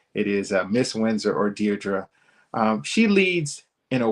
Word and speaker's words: Diedre: you a very very special guest uh Miss Dearra Windsor. And yes, that is how you pronounce her name. So make sure you get it right when you pronounce her name. It is Miss Windsor or Deerra.